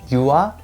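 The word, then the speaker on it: 유아: or you atikeu with the word yua which means an infant i know it sounds like saying you are in british pronunciation but it means a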